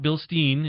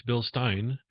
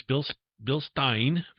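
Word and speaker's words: Bilstein: By the way, if you don't know how to pronounce it, it's not Bill Steen, it's Bill Stein.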